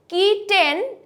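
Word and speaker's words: kitten: This is কিটেন এর জায়গায় আমরা বলবো কিটন, কিটন, কিটন, কিটন, কিটন।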